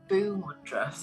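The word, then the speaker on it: Bhu: year actually before but it's called the boo it's spelled b here you Boo and boo means Earth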